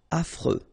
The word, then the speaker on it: affreux: Final X not pronounced. And then you get this freux. Freux. Affreux.